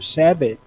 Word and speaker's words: sabot: when you do the sabo thing the correct pronunciation is sabo yeah it's french um no what i